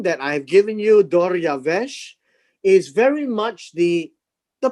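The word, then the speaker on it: דָּרְיָוֶשׁ: that the name that i have given you doryavesh is very much the the pronunciation of the persian word and so darius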